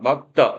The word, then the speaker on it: 맑다: 자, 거기에 비해서 맑다, 막다. 얘는 어떻습니까? 자, 요 경우는 지금 막다가 되니까, 얘는 다르네요, 지금.